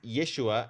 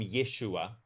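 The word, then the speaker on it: ישוע: In white for white people, we pronounce it Jesus, but Hebrew doesn't actually have a J sound. It has a Y sound. So his name is it's it comes from Yeshua and it goes through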